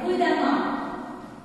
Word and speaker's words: prudemment: Prudemment. Évident. Évidemment. Puissant. Très bien. Bon, alors, nous faisons la remarque, c'est-à-dire la terminaison en E2N-ENT se prononce amant et non pas eumant.